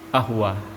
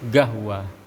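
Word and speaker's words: قهوة: itu dia bilang asyrabu ahwa ya. Qafnya itu tidak diucapkan. Tapi kalau ketika datang ke Saudi, ketika seorang minum kopi, dia akan mengatakan asyrabu gahwa ya. Qafnya diganti dengan huruf G ya.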